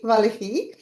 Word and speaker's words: Valerie: Today we have Valerie here. Valerie, according to Adenilson, she didn't like to hear that because she's French, so her name has to be pronounced in a French way, Valerie.